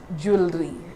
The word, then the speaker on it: jewelry: this words very correctly we say this jewelry right jewelry because we just imagine that this w e l here is pronounced as well but it is absolutely wrong you know what this e becomes silent so it becomes jewelry it becomes jewelry it's